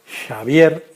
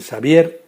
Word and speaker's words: Xavier: patria, el general navarro Xavier Mina. Yo, claro, apuré el tequila y le dijo: ha pronunciado usted Xavier como si fuera un vasco.